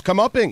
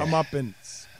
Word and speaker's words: comeuppance: now he's getting his comeuppings. Okay, I'm going. How do you think that's spelled? I have no idea. Go ahead and spell that. Let's see how you think. Comeuppings? Oh, boy. Comeuppance. It's comeuppance.